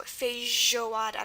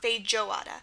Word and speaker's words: feijoada: Now, notice this isn't just like a normal J sound. It's not J. It's J. It's like the ZH, like garage. So feijoada, not feijoada. So again, whenever you hear the j sound in Portuguese, just spell it with the J and you'll be fine, as in feijoada.